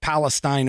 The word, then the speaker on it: Palestine: oh, by the way, Sabo says it's pronounced Steen. So Palestine, not Palestine, not like Palestine over in the Middle East, but Palestine.